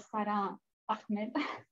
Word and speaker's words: Sara Ahmed: Alors, Sara Ahmed, je vais peut-être le prononcer à l'espagnol, donc j'ai tendance à dire Sara Ahmed.